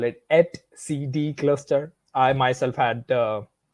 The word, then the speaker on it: etcd: object so one of these objects is called s CD cluster we call it at CD cluster I myself had uh quite a trouble you know pronouncing this first time I uh started learning